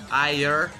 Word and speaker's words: Ayur: Ayur. That's how you pronounce it.